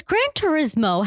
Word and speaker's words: Gran Turismo: true story apparently so wait is Gran Turismo how you say it yeah I always thought it was like Gran Torino no Gran Torino was